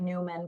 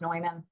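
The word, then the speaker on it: Neumann: it the POR man's noyman so if you're not aware but the the the brand of noyman microphones it looks like Newman but it's pronounced noyman uh that that brand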